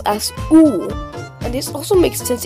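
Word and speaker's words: У: The next one looks like a Y, but is actually pronounced as oo, and this also makes sense in English cursive because the Y looks like an oo.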